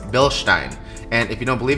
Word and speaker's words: Bilstein: yes it is pronounced Bill Stein I know in the US we say Bilstein because hashtag America but this is a German company it's actually pronounced Bilstein and if you don't